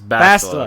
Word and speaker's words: Bastila: Make sure you pronounce it right. Don't make that mistake. It's Bastila. Okay.